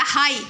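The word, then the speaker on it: high: हाई, हाई में जी silent हो जाएगा।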